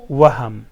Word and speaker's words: وهم: وهم. وهم چې ده مثلا یو شی وینې ته هسې ډارېږي، دې ته څه وایي؟ وهم وایي. ځینې خلک یې وام هم تلفظوي.